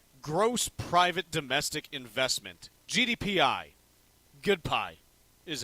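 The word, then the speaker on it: GPDI: Good pie is how it's pronounced by lots me.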